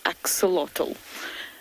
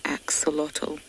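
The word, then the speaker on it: axolotl: of it before it's spelled a x o l o t l axotal please google it it's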